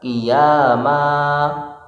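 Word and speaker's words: قِيَامًا: Kemudian selanjutnya adalah kiaman, karena lafal terakhirnya berharokat fathah tanwin, maka dibacanya adalah fathah tanpa tanwin dan dibaca panjang. Kiaman dibaca kiyama, kiyama begitu.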